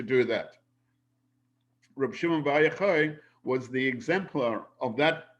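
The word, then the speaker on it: יוחי: And it's pronounced Yochai.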